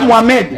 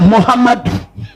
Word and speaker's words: Mohammad: Amen m'a dit non, c'est pas Mohamed. Mohamed. Il dit c'est Mohammad. J'ai dit ça veut dire il dit ce sont ces titres. Il faut prononcer ça comme ça avec respect. Mohammed.